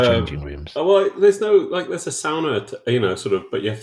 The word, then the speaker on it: sauna: And ANARCHO squats, but you have to pronounce the word the Finnish way, which is sauna, because it's a Finnish word.